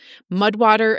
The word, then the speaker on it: Mudwtr: Mudwater is spelled Mudwtr.